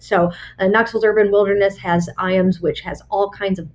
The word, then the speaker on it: Ijams: So I always point people to IAMS Nature Center, and that is IJAMS, but it's pronounced very similar to the dog food, IAMS.